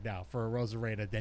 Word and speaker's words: Arozarena: I honestly, I didn't even know how to pronounce his name until the weekend. So most of baseball probably did it. I think I was calling him Arizarena or something like that.